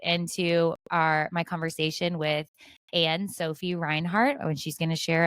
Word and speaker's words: Reinhardt: I'm How do you super pronounce excited your to be last here. name? Reinhardt. Reinhardt.